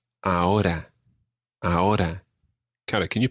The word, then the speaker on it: ahora: Now, the R in ahora isn't really rolled. It's more like a flick that happens somewhere just above your teeth. Ahora. Ahora. Ahora. It's not ahora or anything like that.